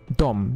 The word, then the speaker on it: dem: Wie hat ihr das ausgesprochen? Kvinnan älskar dem. Dom. Die sagt da auch dom. Okay, interessant. Gut zu wissen. Dom. Wird es anscheinend auch ausgesprochen, auch mit dem M hinten dran.